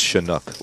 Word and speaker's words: Chinook: you were having pronouncing shanuk is it shinuk it's shinook like the fish shanuk are you sure